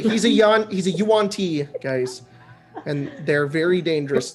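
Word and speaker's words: yuan-ti: A yonti. I I would say that you would Oh god. Yeah. Matthew Matthew Mercer on DD Beyond just corrected me. It's Yuanti. Yuanti.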